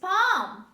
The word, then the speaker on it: palm: this is calm the next word this is palm this is palm or palm tree palm tree